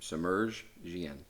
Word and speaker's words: Semerdjian: Yep, Semerdjian.